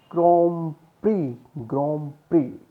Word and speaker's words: Grand Prix: It is the car racing, and we pronounce it as Grand Prix.